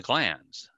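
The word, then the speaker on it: glans: they lay bear the glands g-l-a-n-s for anyone that doesn't know how to spell it i see some people should call it glands and with a d it's glands it's the it's a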